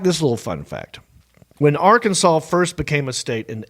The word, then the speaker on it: Arkansas: It stated that the state's name would be pronounced Arkansas but spelled Arkansas.